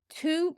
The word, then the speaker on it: tú: like, oh, oh, B And then u fada it's long sound is Ooh. Ooh tú actually means you tú, so tá tú means is you are.